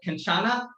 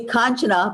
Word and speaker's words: Kanchana: your your name uh kenchana did i do it right no you you cannot mute yourself i wanna hear how you pronounce it go ahead unmute yourself it's actually kanchana but call me